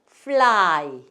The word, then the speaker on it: fly: 근데 L 앞에 자음이 왔을 경우, 자음 다음에 L이 왔을 경우에는 그때만큼은 을을 살려줘라. 살려주고 L 받침에다 리을 쓰시고 그 다음에 옆에 한 번 더 쓰셔야죠. 요거 읽어야 되니까. 자, 그래서 요때는 Y가 I, 이 중에서 I 소리가 납니다. 그래서 I 이렇게 붙이시면 돼요. 그래서 어떻게 돼요? fly 이렇게 돼요.